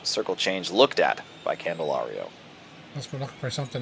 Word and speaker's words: Candelario: Candelario is pronounced for the last one.